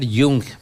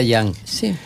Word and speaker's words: Jung: que tiene que aportar Yo pienso que se debe pronunciar yung porque es alemán no es inglés si fuese inglés sería yang porque yo a todo el